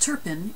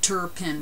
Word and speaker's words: Turpin: He pronounced Turpin in French, his second language, with not much R and absolutely no N. Turpin, kind of. Grandpère pronounced it that way too. Dad said Turpin with as many R's